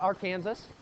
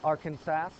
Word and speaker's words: Arkansas: Not our Kansas, not Arkansas. Another silent s at the end just like in Illinois.